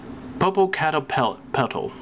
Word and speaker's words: Popocatépetl: was he who truly loved her, Popocatépetl, or Petley, or Petal. Popocatépetl. Not used to pronouncing these 7 names.